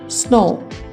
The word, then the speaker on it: snow: Coach, SNOW स्नो, स्नो नहीं होगा ये, W इसमें साइलेंट है। स्नो, ROAD रोड, SO सो, HOE हो, इसे हो ही नहीं बोलेंगे, हो।